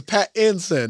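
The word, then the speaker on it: Pattinson: him after I always tell him like is Pat Inson not Pat her but he just he Paton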